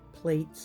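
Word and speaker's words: plaits: I guess they're plats. I I'd call them plats, but plates is what they're called is how it's pronounced.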